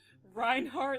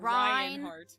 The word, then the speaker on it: Reinhardt: it rhymes with lius Reinhard Li rhymes with lius does it Ryan lion it it's Reinhard not ryanard line lion okay okay